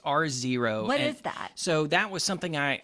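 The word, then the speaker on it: R0: out it's pronounced zero r zero r zero i some people had said row but it's r zero what is that so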